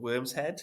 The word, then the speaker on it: Worm's Head: mad name for it but the worm was the Norse word for Dragon and they spell it with a Y but it's just now to so we call it w RMS head but really for them it was worm and the Vikings believe